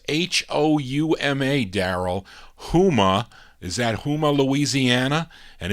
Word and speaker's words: Houma: How do you pronounce Houma, Daryl? Houma.